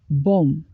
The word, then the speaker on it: bomb: important moment in his career silent B one bomb the bomb was approached with caution Chrome these